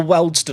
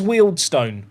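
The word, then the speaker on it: Wealdstone: one quality playing for Weldston on £800? Also, I know it's Wieldstone, but I'm I'm annoyed with them for having players this good, so I'm going to keep saying their name wrong.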